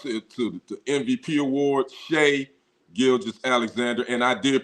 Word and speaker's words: Shai: pronounced it sh but his mama named him Shay so I gotta call him Shay so Shay gilis Alexander